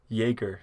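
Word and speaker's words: Joerger: Was it Yoger? Is that how you say his name? The old head coach for the Kings? Jaeger.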